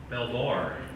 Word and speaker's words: Belvoir: So how do they pronounce it in Virginia? Belvoir? Belvoir. Because overseas, I think they say beaver, don't they?